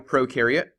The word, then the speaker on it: prokaryote: about we have a prokaryote and we have a eukaryote the pro rhymes with no pro rhymes with no